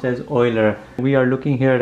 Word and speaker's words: Euler: this name here the Swiss mathematician's name is pronounced as Euler we are looking here at a complex number